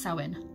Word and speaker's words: Samhain: says samhain it's pronounced so in how weird that's gaelic for you um then there's a